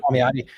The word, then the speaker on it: Palmiotti: We got Jimmy Palmiotti or whatever. How do you pronounce his name? You got it. Yeah, you're good. Palmiotti.